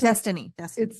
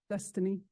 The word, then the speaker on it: Dystaine: And just a point of clarification, you said Dustin or Destiny? It's Destiny. It's spelled a little funny. It's DYSTAINE. Destiny. DYS.